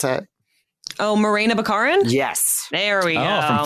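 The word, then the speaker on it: Morena Baccarin: don't know um it's uh what's her name Mona Baccarin Monera how do you pronounce it oh Morena bacarin yes there we go from Firefly oh wow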